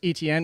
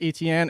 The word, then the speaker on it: Etienne: By the way, also like Travis Etienne, even though he himself says it's Etienne, if you actually go by the pronunciation of that last name, it's actually Etienne. So there you go. He's actually even pronouncing it wrong.